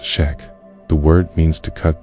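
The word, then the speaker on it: Chöd: The Chad ritual pronounced shack.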